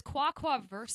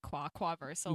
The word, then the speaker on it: quaquaversal: Okay, so it's quaquaversal. Quaquaversal. I want to make a joke about the fact that it sounds like ducks, like quaquaversal, like Do- universal duck language or Do something you want like me to that.